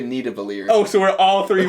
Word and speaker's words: Nidavellir: is just, there's no argument there, you're just pronouncing it differently. But his argument was Thingavalier was his reference point. Nidavellir does not The support...